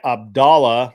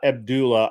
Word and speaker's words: Abdallah: The story is by Abdallah, not Abdullah, Abdallah Fayyad.